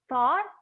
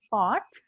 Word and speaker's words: thought: but in the past i need to use this d8 sound because if i say oh i thought you were my student i thought you were if i say i fought is fight in the past so people can get confused they will understand what